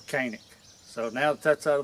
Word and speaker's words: Canik: on here and say it's not pronounced Canik, it's pronounced Janik. Well, this is America. That's a C, and these are my guns, so I pronounce them Canik.